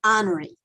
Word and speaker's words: Honore: of the first name honoree is that how you say it it is okay mr i'm